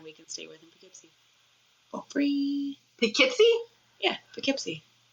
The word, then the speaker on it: Poughkeepsie: Yeah, I've seen it spelled out, and it's spelled with like a Poeskee. It's Pough, Keepsy.